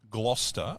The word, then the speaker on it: Gloucester: But no, it's spelled Forster. The English language is just, honestly. It's like Gloucester is Gloucester, but it's Gloucester.